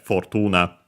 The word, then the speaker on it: Fortuna: in the online dictionary, but it's actually Fortuna. It's based on Roman goddess, so yeah, based on the pronunciation in Latin, so yeah, Fortuna.